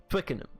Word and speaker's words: Twickenham: And I pronounce it like this because that is apparently how it is pronounced. Twickenham.